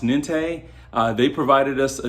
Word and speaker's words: NINTE: I believe it's pronounced Nente.